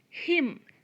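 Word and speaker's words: hymn: sound number three or nest so here h is silent we would read it ah honest number four him h-y-m-n him him means a religious song so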